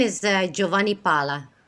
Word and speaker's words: Giovanni: it that's right yeah these americans say giova is giovanni yeah yeah i i literally got lectured for like five minutes of like giovanni giovanni okay okay okay okay so